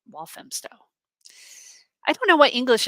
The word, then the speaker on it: Walthamstow: I appreciate oh hmm pronounced wolf and walthamstow I don't know why